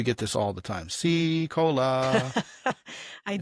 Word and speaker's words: Sicola: It's like Pepsi Cola without the pep.